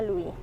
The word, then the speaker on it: Louis: susu induk yang jadi Louis lebih-lebih bacanya Luwih sama enam ji-hyun Nam